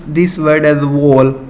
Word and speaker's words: whorl: So we have to pronounce this word as whorl. So R will be silent here in this word, whorl.